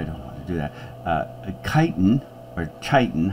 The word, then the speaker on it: chitin: Chitin, however, the two can be soft C or hard C.